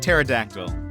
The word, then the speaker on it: pterodactyl: Much like pterodactyl, you're correct. The P is silent.